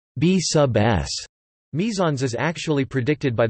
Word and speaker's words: B_s: Surprisingly, the bizarre behavior of the B_S pronounced B sub S mesons is actually predicted by the Standard Model of Fundamental Particles and Forces.